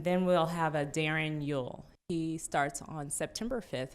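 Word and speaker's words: Uhl: Darren Yule. It's spelled U-H-L.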